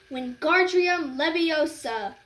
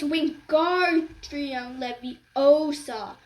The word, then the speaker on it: Wingardium Leviosa: Wingardium Leviosa, he shouted, waving his long arms like a windmill. You're saying it wrong, Harry heard Hermione snap. It's Wingardium Leviosa. Make the gar nice and long.